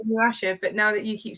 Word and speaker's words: Inuyasha: Inuyasha, you're right. Inuyasha, you're right. Inuyasha.